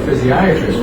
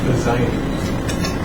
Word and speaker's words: physiatrist: Well, he told you needed to see a physiatrist rather than a surgeon. Is that right? Yes. Or I should say physiatrist. Sometimes they get that extra syllable.